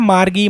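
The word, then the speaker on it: Margie: मार्गी, मार्जी, कुछ भी आप बोल सकते हो, नाम है, ऐसा कोई फ़र्क नहीं पड़ेगा प्रोनाउंसिएशन में।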